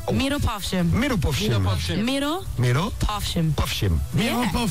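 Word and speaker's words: Mirupafshim: Miro Pavshim. Miro Pavshim. Miro Povshim.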